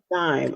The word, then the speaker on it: Gaim: correctly tonight tonight tonight and the last name dime I've been so afraid to mispronounce it so I'm G get it down